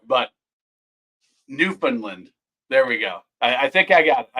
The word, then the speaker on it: Newfoundland: All right, but Newfoundland.